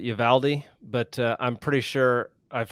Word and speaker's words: Uvalde: valdez texas well i being from texas we always pronounced it yavaldi but i'm pretty sure